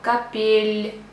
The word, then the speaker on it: капель: Another example, капель, капель. Not капель, капель. Капель. So you see the difference between ель and ел.